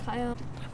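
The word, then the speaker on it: Kaian: My name is Kyan. Whoa. You're going to have to spell that for me.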